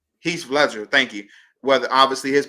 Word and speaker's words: Heath Ledger: Heath Ledger. I'm saying his name wrong. Heath Ledger. Heath Ledger.